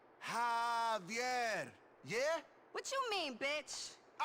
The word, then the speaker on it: Javier: Javier, it's pronounced like an H. Javier.